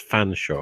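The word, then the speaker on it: Featherstonehaugh: Like the longest example Odicombi is Featherstone Hall, which you meant to pronounce as Fanshawe.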